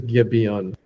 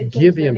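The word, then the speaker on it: Gibeon: Um I think it is Gibon. Okay. Or might be G. I think it's Gibian because because it's it's an I letter in Hebrew.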